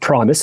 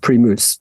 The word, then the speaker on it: Primus: we might pronounce it Primus it's PR it's pronounced pruse it's very very important you have to pronounce it locally I wor that I